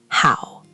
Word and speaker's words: hǎo: Now the second syllable, how. Initial h, final ow, and again that dipping tone three. How. Your turn. How. Like the English word how, but dipping.